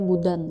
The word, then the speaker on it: boudin: Cara baca boudin ya, mungkin boudin kurang lebih seperti itu.